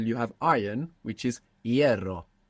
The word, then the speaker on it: hierro: So they look totally unrelated, but if you know that the F became a silent H and that the E split into IE, you can see the connection between hierro and ferrocarril.